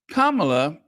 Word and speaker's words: Kamala: Kamala Kama Kamala yes you pronounce it Kama like Kama uh Kamala surges ahead of uh